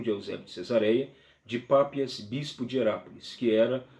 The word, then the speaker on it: Papias: ano de falecimento então papi papias desculpa pápias pronúncia é um pouco confusa pápias de herápolis irá